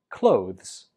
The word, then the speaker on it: clothes: So we pronounce this word clothes. Clothes. The last syllable is a weak z. Clothes. A lot of students pronounce this as clothes, but that's incorrect. It's always just clothes.